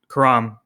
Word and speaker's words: Khurram: I really like the way it's pronounced with just the K sound, the Khurram, right?